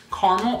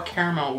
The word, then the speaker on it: caramel: milk chocolate and melted caramel or caramel with depending how you say it both are fine guys that is so